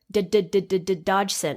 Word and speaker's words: Dodgson: Dodgson is how he would pronounce it.